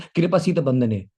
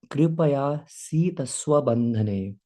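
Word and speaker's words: कृपयासीत् स्वबन्धने: कभी कभी कुछ लोग कृपा सीत बंधने ऐसे बोल देते हैं. मैं भी बोल सकता था ऐसे, लेकिन the right pronunciation is दृष्ट्वा परिश्रम कृष्ण कृपया सीत स्वबंधने.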